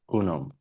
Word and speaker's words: UNUM: UNUM.